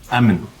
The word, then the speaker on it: Emin: Emin. Spell it. E-M-I-N. Like Eminem.